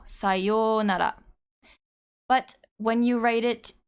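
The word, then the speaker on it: さようなら: For example, sayonara, sayo, when you say this, you don't say sayou nara. It's just a long version of yo, sayonara.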